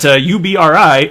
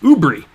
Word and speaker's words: UBRI: And I also learned that UBRI is pronounced Ubri. That's the first time I had heard it enunciated, so I'm going to try and remember that, because I'd always said UBRI, but you can say Ubri, and now we all know that.